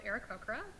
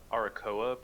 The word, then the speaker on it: Aarakocra: You're saying it correctly. It's just Brett and I have thought Arakoa sounds better, but okay. Yeah, Aarakocra I think is the correct pronunciation.